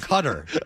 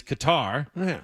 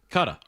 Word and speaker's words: Qatar: years ago, Danny, now the American pronunciation is Qatar. Yeah. The British pronunciation is cuta.